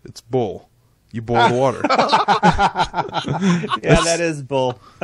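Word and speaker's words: Boyle: worked for Drew basically you have to spell it b o y l e boil boil what do you what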